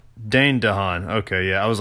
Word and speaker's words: Dane DeHaan: Gahan is how you say his name it's Dane DeHaan Dane DeHaan okay yeah I was like not Dave Dane